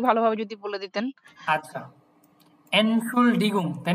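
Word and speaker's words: Entschuldigung: এনসুসডিলগুং, যে ওইটার প্রোনাউন্সিয়েশনটা একটু ভালোভাবে যদি বলে দিতেন। আচ্ছা, এনসুলডিগুং, তাই না?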